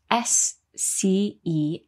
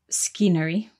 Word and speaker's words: scenery: In the word scenery, we have another silent letter. So scenery is spelt S-C-E-N-E-R-Y. But the C is silent at the beginning. So we don't say scenery, we say scenery.